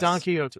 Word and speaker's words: Quixote: Don Quixote.